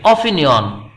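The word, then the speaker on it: opinion: অ্যান বসবেই, অ্যান অপিনিয়ন, এটি কিন্তু ওয়ান মতো উচ্চারিত হয় নাই, অপিনিয়ন, অ উচ্চারণ হয়েছে ওয়ানা, এই জন্য অ্যান অপিনিয়ন হবে, একটি মতামত।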